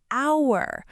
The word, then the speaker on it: hour: An apple, an umbrella, an hour. Wait, here's the interesting part. An hour. The H is silent, so it sounds like it starts with a vowel. So we say an hour, not a hour.